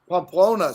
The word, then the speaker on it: Pamplona: know it's technically a sporting event is that pompano how do you say that so what a p yes am i saying it right claus pamplona somebody wrote yes yes i was close scott